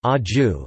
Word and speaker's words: Vāyu: Vayu Sanskrit, Vayu Sanskrit pronunciation, Aju, is a primary Hindu deity, the lord of the winds, the father of Bhima and the spiritual father of Hanuman.